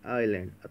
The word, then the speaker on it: island: इज लैंड, ISLANDY लैंड, लेकिन एस को यहाँ साइलेंट करना होता है. कहीं कहीं जब किसी वर्ड को साइलेंट करना होता है, लिखना ज़रूरी होता है. अगर हम इसको नहीं लिखेंगे तो गलत लेकिन लिखने के बाद हमें इसको पढ़ना नहीं है। आई इसको साइलेंट करो, आई एल एंड डी आईलैंड, तब हो गया इसकी प्रोनाउंस सही।